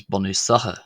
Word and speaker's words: Bunúsacha: Gaelic will know that the CH sound here in latter syllables, not the first syllable, can be pronounced quite often as och as opposed to ah or ach, which it is in Ulster.